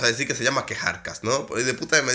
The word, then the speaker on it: Kjarkas: que arcas vamos a decir que se llama quejar cash no podéis de de me dicen como que se pronuncia el más alto diciendo bien quejar cash de verdaderas de ellos a canción yo sabía